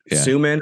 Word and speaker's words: Soo: not pronounce this so hey Su rhymes with human with an S right I love it